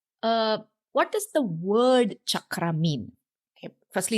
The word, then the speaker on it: chakra: it is pronounced as chakra see at the end the raw sound is kind of retroflex chakra it's not chakra it's not chakra it's not chakra it